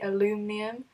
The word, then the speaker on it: aluminium: with aluminium is that you can either say aluminum which is what it's actually meant to be pronounced as but people say differently and we normally say aluminium and like envelopes when